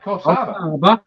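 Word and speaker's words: Coffs Harbour: Coff Harbor. No, no, no, no, no. I mean where he was going for the show and where he traveled from because Coffs Harbor is is in between the two.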